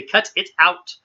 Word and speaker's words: cut it out: So you almost don't hear a T at all.